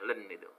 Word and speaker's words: ln: Ln itu singkatan bacanya len ya.